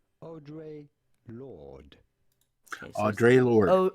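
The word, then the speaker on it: Audre Lorde: the name audrey lord audrey lord all right audrey yeah audrey okay audrey lord audrey like you would in french it would be o instead of like an american so oh drake or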